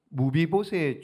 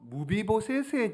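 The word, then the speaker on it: 므비보셋: 누가요 무비봇에서의 종 시바 조금 발음을 살살하셔요 자 이게 무슨 얘기냐 여러분 보시면은요 무비보셋의 종 이렇게 되잖아요 그러니까 무비보셋이 누구예요 다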